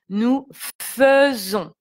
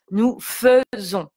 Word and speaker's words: faisons: Nous faisons. Et donc le S est entouré de deux voyelles, donc on le prononce comme un Z. Donc si j'écris en phonétique simplifiée, ça sera nous faisons.